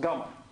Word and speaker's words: gamma: this symbol is the Greek letter G it's pronounced gamma okay GMA Rays is a kind of electromagnetic